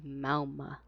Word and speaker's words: Mauga: So we usually call him Mauga, but like I think the proper pronunciation, at least what Echo says, is Mauma.